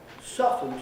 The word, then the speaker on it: soften: Soften is, you don't pronounce the T in that. The T has disappeared years ago.